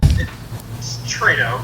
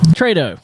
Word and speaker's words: Tretow: Tretow. Tretow.